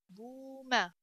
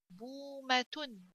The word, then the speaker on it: بومة: بومة. تا ضمتان تن. بومة. بومة. بومة. So the letter that we're going to stretch here is ba, because waw comes after, and waw becomes letter of mad because ba, which is